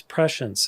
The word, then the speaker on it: prescience: So this is prescience. It's pre-science. It's spelled pre-science.